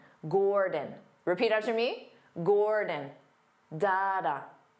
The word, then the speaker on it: Gordon: Dada Gord Gordon Gordon because the first syllable is stressed Gore so the second syllable becomes that unstressed vowel sound D D Gordon D again your dictionary